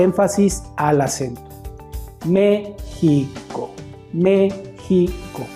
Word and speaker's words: México: a dividir esa palabra se divide en tres sílabas la primera sílaba acentuada entonces vamos a decir al niño que repita la palabra mexico siempre dándole énfasis al acento me pico méxico y le vamos a